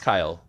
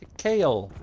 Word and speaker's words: Kail: about that but yeah it's pronounced kyle despite how many people in the city are like oh kale no no i am not kale yeah no i've been